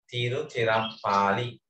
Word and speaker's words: Tiruchirappalli: නගරේ නම තමයි ටිකක් අපිට කියාගන්න අමාරු තිරුචිරප්පාලි pronounce it Tiruchirappalli.